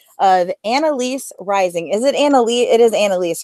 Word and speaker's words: Annalise: Is it Annalise? It is Annalise, right? Yes, Awesome. you got it right.